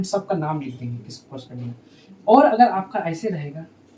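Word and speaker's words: corresponding: अंग्रेजी में इसको कॉरस्पेंडिंग बोलते हैं, कॉरस्पेंडिंग। स्पेलिंग में मत जाना है, एंगल कॉरस्पेंडिंग एंगल बोलते हैं, जिसको हिंदी में संगत कोण बोलते हैं।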